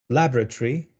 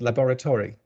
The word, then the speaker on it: laboratory: It's laboratory versus laboratory. And it's Birmingham versus Birmingham.